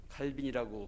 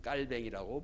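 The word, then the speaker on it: Calvin: 칼빈이라고 부르고 원래 발음은 깔뱅이라고 부릅니다.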